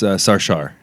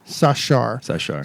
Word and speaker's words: Sarshar: sit down with Sarshar. Is that how you pronounce it? So after 20-some years of knowing each other, you still don't know. I'm kidding. No, not many people know, but it's Sarshar. Sarshar.